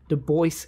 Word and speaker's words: Du Bois: My name is pronounced in the clear English fashion. Du with a U as in Sue, and Bois as in the oi in voice. The accent is on the second syllable.